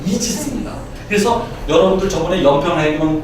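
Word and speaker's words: Aegis: 바로 아이기스는 방패입니다 그리고 요것에 영어의 발음은 이지입니다 그래서 여러분들 저번에 연평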